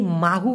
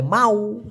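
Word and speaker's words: mahu: গেছে ক্লিয়ার ব্যাপারটা মাহু এই মাহু হচ্ছে সঠিক উচ্চারণ তবে অনেকে এটাকে বলে মাউ সায়া মাহু না বলে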